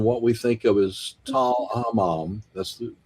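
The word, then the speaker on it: Tall el-Hammam: the area around what we think of as Tal Hammam, that's the pronunciation, they discovered not that it had meteorites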